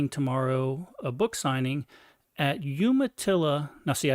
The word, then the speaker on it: Umatilla: a book signing at Umatilla now see I said Umatilla because that's the correct way to say it Duke yumaa uh Public